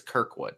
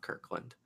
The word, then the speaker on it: Kirkwood: just to correct you it's Kirkwood not Kirkland KK Kirkwood okay so